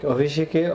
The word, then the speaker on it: অভিষেক: আচ্ছা এরপর রয়েছে অভিষেক, অভিষেকে অ অভিষেক, অনেকে ও দিয়ে লেখে অভিষেক, আসলে অভিষেকের উচ্চারণটা কিন্তু অ দিয়ে শুরু করতে হবে, ভেতর দন্ত স অনেকে দেই সেটা না দিয়ে মূর্ধন্য ষ হবে।